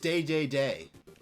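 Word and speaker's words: Dedede: definitely call him King DDD but in Japan it's pronounced day day day but uh no this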